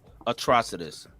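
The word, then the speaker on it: Atrocitus: Atrocidus. Is that how it's pronounced?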